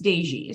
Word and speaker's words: Dezsi: It's pronounced Dezsi, so you're Dezsi, good.